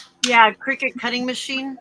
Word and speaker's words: Cricut: Cry cut basically is what? Yeah. But it's pronounced Cricut.